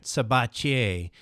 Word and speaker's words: Sabatier: Today, my guest on Wealth Formula Podcast is Sabatier. I like the French pronunciation.